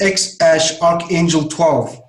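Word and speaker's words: X Æ A-12: You know that He says this, so it's just the letter X, and AE is pronounced Ash. So it's X Ash Archangel 12.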